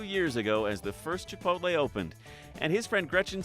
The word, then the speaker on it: Chipotle: couldn't pronounce the name people tend to switch the L around and so they call it Chapel T heard of Tripodi there's